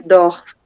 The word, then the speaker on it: dors: Je dors. Je Je dors. Vai até o R, exatamente.